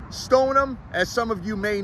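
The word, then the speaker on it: Stoneham: let's get this changed let's spell it the way we pronounce it stonum as some of you may know if you don't you know now is also known as Sho toown Stone them let's get it right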